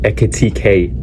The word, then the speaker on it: Ekitike: 130 on Isak, 120 on Words, 100 mil on Ekitike, sorry. I got, my friend roasted me because I didn't pronounce his name right. Ekitike.